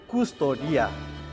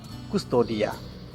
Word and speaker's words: custodia: ruangan kecil ini disebut custodia disebut apa custom Tia dan bacanya dipisah-pisah tapi disambung custodia dalam custodia ada satu